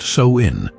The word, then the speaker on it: Samhain: look at ancient Customs Sam Haye pronounced so in was a festival marking